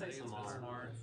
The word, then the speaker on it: Midsommar: How do you pronounce it? Does anybody know? Midsommar? Midsommar, technically.